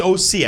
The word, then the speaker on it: Ohse: It's Ohse.